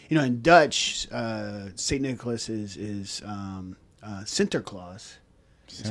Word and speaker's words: Sinterklaas: In Dutch, Saint Nicholas is Sinterklaas. That's how you pronounce it.